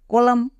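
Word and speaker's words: column: M Dame next C ও এল ইউ এম কলাম এবার আমরা দেখে নেব পি কখন সাইলেন্ট থাকে পি কখন সাইলেন্ট থাকে পি এর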